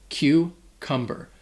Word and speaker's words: cucumber: That first C sounds like a Q sound. Q. All right? And the next C just has a K sound, like a K. K. Cucumber.